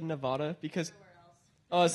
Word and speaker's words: Nevada: thing because at least everyone I've met here in Oregon have said Nevada and I have like and I have parent I mean I had grandparents live in Nevada so I've always pronounced it Nevada and yeah and then